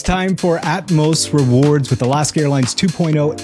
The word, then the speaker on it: Atmos: It's not Atmos, like atmosphere. It's Atmos.